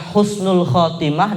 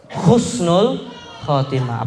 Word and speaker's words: Husnul Khatimah: Ain ya sama kayak beda antara Husnul Khatimah dengan khusnul khatimah apalagi kalau ditulis cusnul Khatimah fatal itu kalau dibacanya begitu gitu ya Kenapa karena kalau Husnul Khatimah benar maknanya meninggal atau akhir yang baik tapi kalau Khusnul Khatimah itu artinya akhir yang buruk gara-gara beda Apa Bacaan